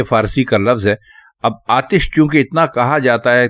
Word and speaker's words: آتش: لیکن اگر آپ اس کے درست معنی یعنی درست تلفظ ہم سے پوچھیں تو ہم آپ کو کہیں گے کہ آپ آتش استعمال کیجئے. آتش غلط ہے، لیکن غلط العام ہے، مطلب ہے ساری دنیا اب آتش کہتی ہے تو